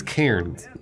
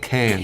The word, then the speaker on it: Cairns: Wait, she means Cairns, Yeah. not cans. Karen? Well, I mean, I think how she pronounces it is probably how it's pronounced. I disagree. Oh. Okay, fair enough. It's got an R in it, Australians.